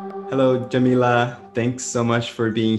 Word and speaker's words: Yamile: um i want to make sure that i'm pronouncing your name correct again it's jamilah right yeah yeah um is there a